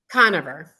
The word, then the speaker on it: Conover: Conover.